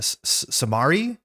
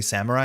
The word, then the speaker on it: samurai: As a kid, this was a samari. A samari long time until I finally heard someone say samurai.